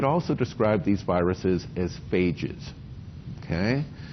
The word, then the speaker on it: phage: You could also describe these viruses as phages, okay? The British pronunciation, and I suppose the Australian pronunciation, is phage, right?